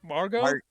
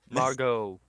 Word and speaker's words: Margot: Margot. Margot. Margot Robbie. There you go. I was seeing if you were pronouncing the T or not.